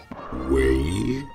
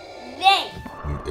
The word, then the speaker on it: Rey: My name is Rey. Wei? No, Rey. May? Rey.